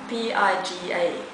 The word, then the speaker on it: Piga: he died last year yeah how do you spell that p-i-g-a piga piga okay and what about classic artist